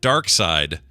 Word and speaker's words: Darkseid: found multiple sources that confirmed Jack Kirby himself pronounced it dark side he says it is a German Germanic pronunciation of the of the villain's name out there that pronounce